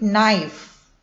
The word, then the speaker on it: knife: We read it knife.